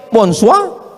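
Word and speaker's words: bonsoir: Emangnya bahasa Perancis mudah tulisannya bonur bacanya bonjou. Bon soir, bonsoa.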